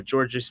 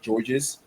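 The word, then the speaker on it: Georges: he was like the the S is silent at the end of the name so it's ends up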